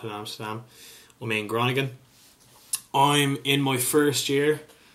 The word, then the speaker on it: Groningen: Amsterdam in the Netherlands called gronigan or as the locals pronounce it Crone again that could have been a bit butchered in itself but yeah when people